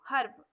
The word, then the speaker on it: herb: जब किसी शब्द के बीच में ई हो और ई के बाद आर से कोई व्यंजन जुड़ा हो तो ई का उच्चारण आधा आ होता है। आधा आ मतलब झटके से बोलते हैं हम इसको, इसी को आधा आ बोलते हैं। जैसे हर्ब, समझ में आ रहा है आपको? हर्ब, HERB, हर्ब।